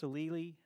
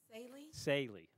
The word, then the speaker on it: Saley: Miss Salili, and I know I keep saying I pronounced that wrong, right? How you pronounce it again? Saley.